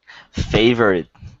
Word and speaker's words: favorite: Favorite, we don't really pronounce the O at all. So it just sounds fave and then rit.